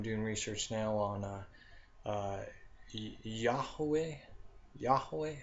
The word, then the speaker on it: Yahweh: Yahweh. I think that's how you pronounce it correctly. And what I'm meaning is, how they say Yahweh, whatever. It's Yahweh. I guess that is the proper way of saying it.